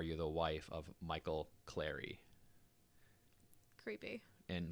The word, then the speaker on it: Cleary: bridget cleary clary cleary i'm gonna go with clary because it rhymes with the word fairy yeah perfect right so